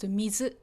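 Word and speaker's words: 水: So if you see mizu, the kanji on its own, it's pronounced mizu, and it just means water.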